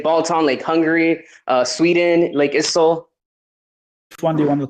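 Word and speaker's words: IJssel: It's Issel, ISSEL, Lake Gisel. This is Dutch. Dutch people have weird ways of saying things, so ISIL is the pronunciation.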